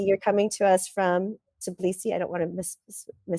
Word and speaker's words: Tbilisi: places uh Chelsea you're coming to us from tabilisi I don't want to say it to please see right is that how you say it could please see Georgia yeah Tbilisi Georgia um I know Pete you're in southern